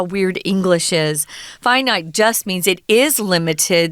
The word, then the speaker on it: finite: course is finite and it's weird that we pronounce these differently Tom you know infinite infinite but why do we say finite sorry that's how weird English is finite just means it is